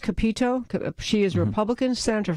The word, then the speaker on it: Capito: But at a deeper level, there was a statement by Senator Shelley Moore, and I believe it's pronounced Capito.